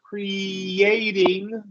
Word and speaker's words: creating: close this long e we're going to emphasize the Y into the long a creating okay yeah cre creating creating so two two long e right yeah long e long a long e so but